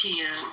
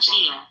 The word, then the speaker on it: Kia: Am I saying it right? It's Kia. Thank you, Kia. I'm gonna put some in. I'm put some Kia or Chia? ChatGPT. No, like the car, Kia.